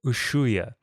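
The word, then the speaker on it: Ushuaia: Ushua. Did Did you figure out how to spell it just from that pronunciation?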